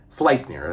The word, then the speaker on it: Sleipnir: they say, not eight-legged, but eight-hooved steed named Sleipnir, the legendary eight-hooved Sleipnir. Sleipnir, that's how it's pronounced.